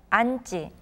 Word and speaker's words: 앉지: For example, the verb 앉다, when it is followed by the suffixes 고 or 지, they're pronounced as 앉고 and 앉지.